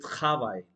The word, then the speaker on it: travail: Je travaille. Travaille. Suppose travail. Travail in French means work. Okay, work, I should say. Travail. uh, but that would be travail. Okay, or r should be ha.